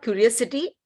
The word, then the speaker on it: curiosity: Pronunciation, there is one mention of curiosity. It is not curiosity. There is an extended O sound. So there is, when you say, spell it as CU, but actually there is a sound Y also, curiosity. You don't say curiosity. Similarly, it is curiosity. The O is extended.